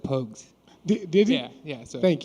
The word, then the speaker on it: Pogues: Yeah, it's Pogues, Pogues. I've heard everything you heard of, but it's Pogues, man, Pogues.